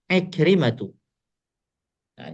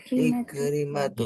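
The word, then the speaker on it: عكرمةُ: Ikrimatu. Ya. Bukan ikrimatun ya. Tidak menggunakan tanwin terakhirnya. Pakai domah saja ya.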